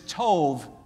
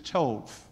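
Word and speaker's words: טוב: Now that word good is tov, T-O-V is what we would spell it in the English alphabet.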